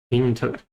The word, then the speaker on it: intellect: Intellect. The stress is at the first syllable, so you have intellect.